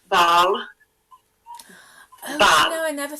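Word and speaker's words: Bâle: It's in Basel, and in French it's called Baal.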